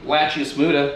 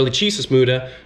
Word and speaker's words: Lachesis muta: Right here, the scientific name, Lachius muta. Get a close look so you guys know how it's spelled. Lachius muta, or Lachesis muta, translates to silent death.